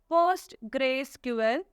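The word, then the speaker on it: PostgreSQL: is pronounced as pose gray Square it is pronounced as post Grace ql Earth host Grace sequel okay it is notable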